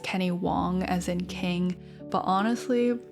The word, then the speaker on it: Wang: It's pronounced Wong which is how Kenny's last name is translated in English. It's spelled W A N G phonetically in the English translation.